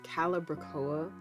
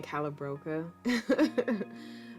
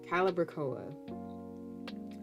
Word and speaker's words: calibrachoa: for another planting and i think i've been pronouncing the name of this plant wrong it's calibrachoa i think i was saying calabroca i cannot remember how to pronounce that for some reason calibrachoa okay i got